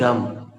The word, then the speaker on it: dumb: आमतौर पर जब आखिरी में बी आता है दोस्तों तो वो साइलेंट होता है। There is one more word, he इज डम।